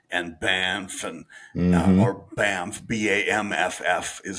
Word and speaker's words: Banff: Calgary and Banff and or Banff, Bamff is how they pronounce it, even though it's Banff.